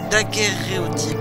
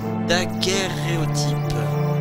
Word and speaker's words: daguerréotype: Daguerréotype. Je prononce mal, il y a deux R. C'est deux syllabes différentes. Daguerréotype.